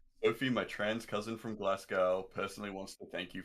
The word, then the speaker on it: Glasgow: that place name again tim in that glass glasgow glasgow glasgow nailed it perfect i laugh because i totally pronounce it correctly and it's like oh boy